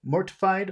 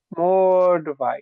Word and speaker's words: mortified: is it mortified or is it mortified mortified that's really mortified you you can't some you cannot give equal attention to each vowel sound because some vowel sounds are long they're long in duration and some are short and if you if